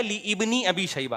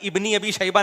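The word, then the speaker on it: ابن أبي شيبة: इ साहब बता रहे लोग इसको गलत पढ़ते हैं सही है ली इनी अबी शैबा अबे भाई इब्नी अबी शैबा नहीं है लि बनी अबी यह अलिफ साइलेंट है यह हमजा वसलिलाए ऐसा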